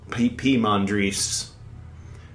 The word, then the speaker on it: Poimandres: Pymandres. Just as a mental, so you can remember how to pronounce Pymander.